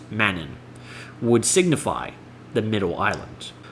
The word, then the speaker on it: Mannin: Therefore, Medon in, pronounced Mannin, would signify the middle island.